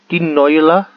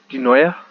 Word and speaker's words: Dinoia: I thought it was Dinoila. It's not. It's Dinoia.